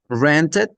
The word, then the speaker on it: rented: So the main rule here is that a word that finishes d we have to pronounce added granted added.